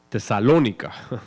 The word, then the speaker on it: Tesalónica: más nobles o tesalonica tesalonica tesalónica tiene acento en inglés tesalonica pues recibieron